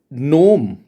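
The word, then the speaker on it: Gnome: The major नोम manufacturing company, मैंने जी silent कर दिया. द मेजर, मैं ग्नोम बोलता बड़ा ऑकवर्ड सा लगता.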